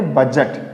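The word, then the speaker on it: budget: Handsome D को pronunciate नहीं करेंगे। हैंडसम हैंडसम इसको क्या बोलेंगे? बजट क्या बोलेंगे इसको?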